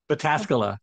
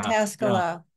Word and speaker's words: Pataskala: And in a related note, I was curious, what is all the shouting about in Pataskala? Am I pronouncing that? Pataskala, yeah, yeah. Pataskala.